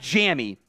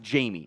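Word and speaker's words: Jammie: overall uh Jamie Robinson I know it's spelled like jammy it's actually it is actually pronounced Jamie I like from that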